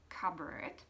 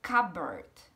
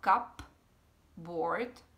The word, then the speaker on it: cupboard: Ale tady, když je to takhle spojený, pozor na to, ať to P se tam nečte, je to takzvané tiché písmeno a čte se to jako cupboard, jo? Ne třeba cupboard, jak by se nám třeba z toho zdálo, ale cupboard, cupboard, jo?